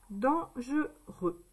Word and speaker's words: dangereux: Donc le verglas et la neige, c'est dangereux. On n'entend pas le X.